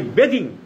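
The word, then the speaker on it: bathing: করি, বড় পণ্ডিত, এই বাত, ইংরেজি বাত, BATH, বাত মানে চান করা বা গোসল করা, এটা যখন ING যোগ হয় তখন উচ্চারণ হয় বেদিং।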